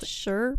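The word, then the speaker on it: Shurbutt: It's spelled Sherbut. S-H-U-R. Sure. But. B-U-T-T.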